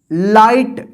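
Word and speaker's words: light: जी एच है ना तो इस जी एच का उच्चारण नहीं होता है यहां पे देखिए आई का आई उच्चारण होता है और जी एच का जो है ना उच्चारण नहीं होगा ये साइलेंट रहेगा जब हम साइलेंट वाला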